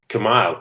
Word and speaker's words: Commaille: Hi there, it's Michael Cowan here again, and I'm chatting to Brett Commaille. No, that's wrong. I've said that wrong, haven't I? Commaille, but it's okay.